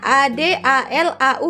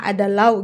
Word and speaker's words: ADALAU: Rupanya dibacanya ADALAU ya, guys, ya. Minta maaf kalau tadi Makci bacanya digabung semua ada lau gitu ya, guys, ya. Rupanya dipisah-pisah ya, ADALAU, Angkatan Darat, Angkatan Laut, Angkatan Udara.